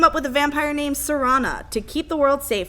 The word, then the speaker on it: Serana: Either way, you team up with a vampire named Serana to keep the world safe from a terrible prophecy. Yeah, I kept wanting to call her Serena. Yeah. Because it's spelled Serena. No, it's spelled Serana.